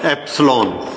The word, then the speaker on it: epsilon: The measurement of permittivity has a symbol epsilon. How it is pronounced?